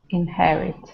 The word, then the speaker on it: inherit: not spelled in the French way with the eiir and it's not beginning the sentence either so you actually say the H inherit right so one more